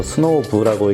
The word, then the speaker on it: SNOVV: 있는데 자 요거 든요 스노운데를 VV 바꿔서 스노우 부라고 읽는데요 스노우가 이제 눈 살살